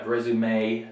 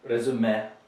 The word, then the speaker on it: résumé: In Russian, when you're pronouncing our words in English, you tend to say café or résumé, right? You make it short. That is incorrect pronunciation in English. So you have to remember here to have a long A, right? A long A sound rather than the clip, the short eh that you would have in Russian.